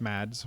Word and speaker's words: Mads: German doctor played by Mad Mckelson or Mad Mickelson. I've heard I've heard different ways to say his name. It's Mads regardless. and he's amazing and I love him as an actor.